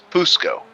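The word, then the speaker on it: Fucskó: No, there's an accent on the O as well that does not show up on a relative. Fusco. Yeah, CSK. Fusco.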